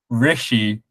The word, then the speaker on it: Rishi: make but continue yeah reishi richy wait say his name again rishy rishy it's a short not e rishy sunak yeah former prime